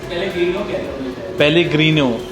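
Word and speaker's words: Pellegrino: Next जो brand है, what is the pronunciation? पेलेग्रीनो।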